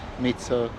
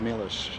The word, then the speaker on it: Milos: They always ask me how you pronounce, your name. My first name is Milos and last name is Sarcev. However, everywhere in the United States and in Europe also, they call me many other names: Mitso, Milo, Milos, and so on.